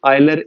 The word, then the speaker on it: Euler: Swiss mathematician आयलर invented, ये ठीक ही है प्रोनाउंसिएशन मैंने।